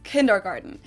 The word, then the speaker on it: Kindergarten: Let's start with one of the most known ones, and that is kindergarten. In German, we pronounce it Kindergarten, and it literally means children's garden.